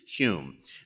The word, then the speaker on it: Home: known was Daniel Douglas Hume it's spelled home but it's pronounced Hume now Hume uh was a physical